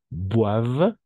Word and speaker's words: boivent: En général, les adultes, d'accord, les adultes boivent, ENT à la fin, on ne prononce jamais, aquí no pronunciamos,